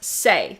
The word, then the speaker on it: Saie: Joy says that brand is pronounced Saie.